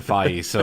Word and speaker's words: Feige: Well, I still don't know how to pronounce Kevin Feige, or Kevin Feige.